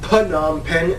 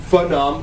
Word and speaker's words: Phnom Penh: capital is pnom pen that's right people it's pronounced Putnam pen not phenom or not okay man the Phnom Penh formally